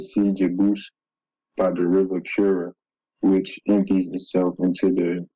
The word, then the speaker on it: Kura: And the Kura River is, although it's spelled with a C there, it's going to be a K here.